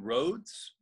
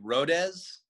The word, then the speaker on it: Rhodes: japan they don't they have trouble pronouncing roads okay they would say like rodez and i thought that